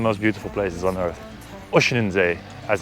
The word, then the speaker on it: Oeschinensee: Oeschinensee, as it's correctly pronounced.